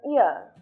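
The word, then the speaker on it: hour: For example, an ear. In this word, the letter H was silent, and we start pronouncing the word with the sound ear.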